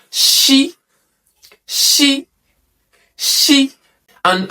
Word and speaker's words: Ṣ: So in Yorùbá alphabet, when you see letter S with dots underneath, it is pronounced She.